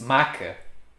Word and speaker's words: maca: and without those little uh lines there it's maca like stretcher you know like take people to